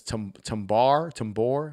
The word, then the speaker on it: Tambor: I think his last name is Tambor. I think is how you pronounce his last name. I thought it was said Tambar.